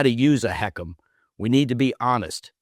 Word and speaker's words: HECM: It's called the home equity conversion mortgage, pronounced heckum by those who work with it every day.